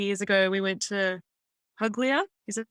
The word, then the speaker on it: Puglia: We went to Puglia. Is that how you say it? Puglia. It's Puglia? spelled Puglia, but it's pronounced Puglia.